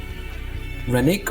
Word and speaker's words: Renwick: Rennick or Renwick? Rennick, the W is silent.